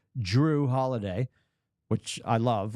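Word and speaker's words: Jrue: NBA Insider um and you say his name you try to say his name as clearly as possible and it still sounds like Drew with a d it's Drew holiday which I love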